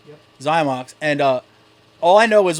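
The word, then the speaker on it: Xymox: Zymox.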